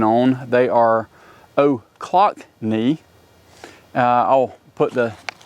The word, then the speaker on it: Ochlocknee: decided that these, which I've now practiced the pronunciation on, they are Ochlocknee.